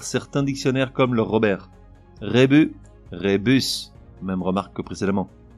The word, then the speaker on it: rébus: cette fois à l'envers le S final de rébus n'est pas muet il faudrait donc le prononcer rébus même si le Robert encore lui te fait une fleur à admettre la prononciation rébus carrousel paume pensa dans